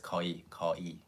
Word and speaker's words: 거의: This is almost 거의, but it's actually pronounced as 거의.